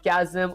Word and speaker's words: chasm: Okay, chasm pronounced as chasm. Oh, that actually does make sense.